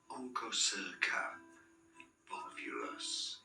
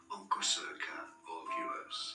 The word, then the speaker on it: Onchocerca volvulus: So, Onchocerca volvulus is how you say it. Onco, not oncho. Onchocerca volvulus is how you say it in now.